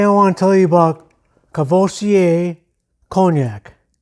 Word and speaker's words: Courvoisier: make a video so it's called Courvoisier cool voici a so you say cognac